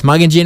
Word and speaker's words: Magan-djin: local yur traditional owners they both say it is mugin Jin although they slightly differ on pronunciation and what where the